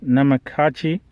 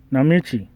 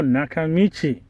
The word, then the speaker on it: Nakamichi: How do you pronounce this? Namakichi, Nakamichi. Oh, Nakamichi.